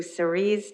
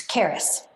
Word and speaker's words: Karis: and we'll go to series is there a series hi and i apologize if i'm saying your name wrong it's karis great go ahead ms